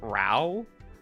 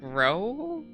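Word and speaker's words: Rou: I've been saying, like, Rao for him, and then I heard someone pronounce it as Ro, and by someone I mean the creator of the game.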